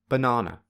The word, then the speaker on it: banana: syllables firstly the word banana the second syllable is the loudest the highest and the longest whereas the first and third syllables are equally quiet low and short therefore this word has